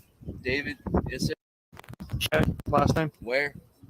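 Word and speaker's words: Ware: your first name David is it last time where spell it w-a-r-e date of birth a 1287.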